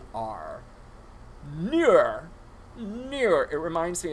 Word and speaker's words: Neewer: And the lighting system that I use is done by, I think it's pronounced Neewer? It's Neewer.